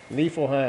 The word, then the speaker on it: Niflheim: Niflheim.